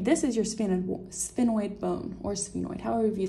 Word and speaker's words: sphenoid: This is your sphenoid bone, or sphenoid, however you like to pronounce it.